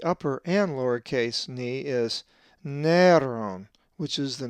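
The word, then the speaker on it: Νέρων: The accent is over the epsilon, so it is Neron.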